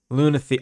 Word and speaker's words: Lunathier: Name's pronounced more like ear. Lunathier.